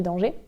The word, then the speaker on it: Danger: Moi, j'avais tendance à dire Charlie Danger, mais je crois qu'elle prononce Charlie Danger.